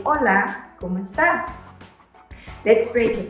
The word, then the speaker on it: hola: someone in spanish say hola note that the h is silent an informal common